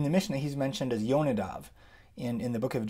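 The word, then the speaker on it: יונדב: the really English way, Jonadab, son of Rechab. Or how would you say it? in Hebrew, I'll show you the Hebrew here. It's Yonadav ben Rechav. That's how you say it in Hebrew, Yonadav ben Rechav.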